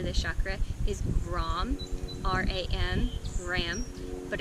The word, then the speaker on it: Ram: The Sanskrit mantra for this chakra is Ram, R-A-M, Ram, but it's pronounced Ram.